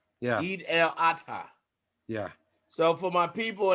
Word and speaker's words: Eid al-Adha: Eid al-Adha. Eid el-Hatta. Adha, like an advert, and then Adha. Yeah. Eid el-Adha.